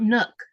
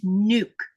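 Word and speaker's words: Nuuk: It's nuke. And if you look at the way it's spelled, it's spelled like this. N UK. Those two U's mean you draw out a long sound u in Greenland.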